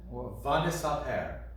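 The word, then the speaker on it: וַנְּסַפֶּר: And I found a word this week in the Torah reading where the accent was on the fourth to last syllable. Vanisaper.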